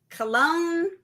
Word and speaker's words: Cologne: see let me tell you if I can pronounce the first one this could be this could be good cologne cologne Cologne Cathedral yes yes that's that's perfect yeah